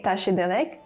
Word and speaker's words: བཀྲ་ཤིས་བདེ་ལེགས: So to say tashi delek, you write bkra shis de legs.